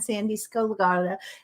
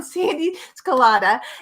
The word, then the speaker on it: Sandee Sgarlata: it's my dear friend Sandee Sgarlata. I pronounced her name wrong, Sandee Sgarlata, and she is a professional coach.